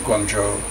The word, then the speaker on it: Guangzhou: In fact, the city of Guangzhou, pronounced Guangzhou, near Hong Kong, was the first city in China to have an annual per capita income of over $10,000.